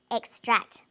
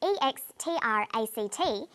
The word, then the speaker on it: extract: on the second syllable extract but e-x-t-r-a-c-t is also a noun when it's a noun it's pronounced extract the emphasis is now on the first syllable and this pattern of